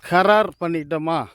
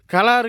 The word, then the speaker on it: கரார்: பாகப்பிரிவினை பண்ணுறதுக்கு பேர் வந்து கரார் பண்ணிட்டாங்களா அப்படின்னு தான் அதுதான் உச்சரிப்பு, கரார் அப்படிங்கிறது. ஆனால் சில பேச்சு வழக்கு பேச்சு வழக்கில் என்னங்கிறாங்கன்னா கலாறு கண்டுட்டியா அப்படிங்கிறாங்க, கலாறு அப்படிங்கிறாங்க. அந்த வார்த்தை வந்து தவறு.